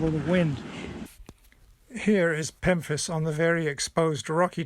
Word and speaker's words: pemphis: This is pemphis. Rhymes with Memphis, but it starts with a P.